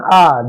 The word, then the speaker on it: hour: Here h is silent, so it is hour hour.